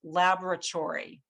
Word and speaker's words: laboratory: different word in english i'll give you the example of laboratory that that a sound is in the first syllable and that's what makes the word sound like the word laboratory so we categorize it